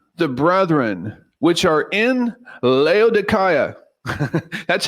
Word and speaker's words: Laodicea: verse 15 salute the Brethren which are in leaya that's how it's pronounced in the Greek I think that's awesome